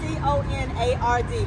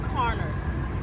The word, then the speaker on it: Conard: petitions to the EPA apologize Connor and let's make sure that we spell that correctly is c-o-n-a-r-d correct on it thank you Jessica carner thank you I appreciate it my name is conard I am a lifetime